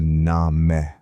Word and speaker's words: name: The word name was once pronounced closer to na-meh.